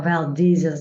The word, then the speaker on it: Valdez: 93 cable miles from Valdez or Valas I think is another pronunciation so I'm using Valdes as reference for both so the work occurred